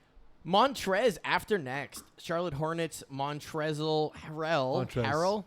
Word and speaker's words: Montrezl: Charlotte Hornets Montrezl Harrell It's just pronounced Montrez.